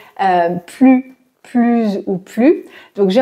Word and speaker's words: plus: bonne prononciation il a plus d'amis que moi ici c'est la supériorité donc on doit prononcer le S c'est utile que je